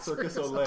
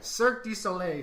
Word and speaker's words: Cirque du Soleil: And I know some people call it Circus Olay. That's what I call it, Circus Olay, but that's not right. Cirque du Soleil.